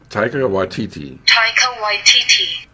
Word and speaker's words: Taika Waititi: it yeah and it repeats itself saying taika taika waititi yep that's how it's pronounced yeah i still don't trust that robot